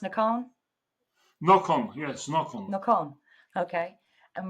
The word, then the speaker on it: Nocon: Well, welcome, Hillshire Media author Nocon, or is that how it's pronounced, Nocon? Nocon, yes, Nocon.